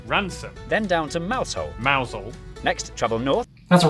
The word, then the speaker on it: Mousehole: over to rampisham ransom then down to mousehole mousel next trouble north that's a ransom yeah no